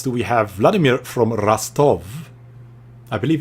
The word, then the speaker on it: Rostov: Vladimir from Rostov. I believe it's called Rostov, not Rostov, as you spell it, but it's Rostov.